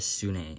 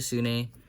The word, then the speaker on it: sune: Now that sequence of moves is called a sune in speed cubing. It's not S-O-O-N-A-W, which is how it's pronounced, but S-U-N-U.